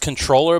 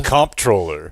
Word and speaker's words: comptroller: It's pronounced controller, but I feel like that's a bad idea. Comptroller.